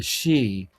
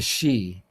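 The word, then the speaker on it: sidhe: the shining ones or we're called the she and it's spelled s i d h e the she. It's a Gaelic word.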